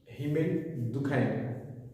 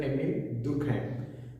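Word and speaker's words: Émile Durkheim: suicide given by Sir Emile Durkheim, or many people will pronounce it as Sir Emile Durkheim. Well, both the pronunciation are deemed as correct, but literally the earlier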